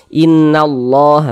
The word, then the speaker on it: Innallah: Jadi huruf lam yang ini dia tidak dibaca karena dia tidak ada tanda bacanya, langsung masuk ke huruf yang ini ya. Innallah, begitu.